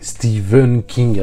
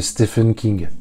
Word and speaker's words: Stephen: partisan de le prononcer Stephen King avec un V puisque lui-même prononce son prénom comme ça c'est vrai que si on le prononce à la française ça fait Stephen King bon au fond on